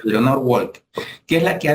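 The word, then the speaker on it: Lenore Walker: lenor Walk Walker Walker cre que se pronuncia Leonor Walker que es la que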